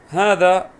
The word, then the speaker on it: هذا: هذا طبعا تشير إلى المفرد المذكر، شاش مفرد مذكر فتكون قبله هذا، طبعا وهذا فيها ألف تنطق ولا تكتب، لاحظ معي ها هذا،